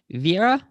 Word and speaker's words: Viera: last but not least viera i hope i'm pronouncing that right oh my god my name is viera yes oh nice guitar